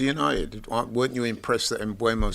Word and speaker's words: Mbeumo: Mbeumo, I've realised today, so you pronounce it Mbeumo. Flex is the only one that's been saying it correctly the entire time. Yeah? Turns out I kept saying Mbeumo. It's Mbeumo.